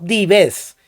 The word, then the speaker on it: dives: le dio el nombre de dives pronunciado dives que significa hombre rico